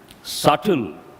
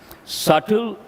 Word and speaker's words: subtle: word slight you have to know another word subtle the letter be is silent subtle slight Nuance they all mean the same but